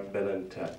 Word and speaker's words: Belentep: Serdar Belentep, and I'm told that's the perfect pronunciation.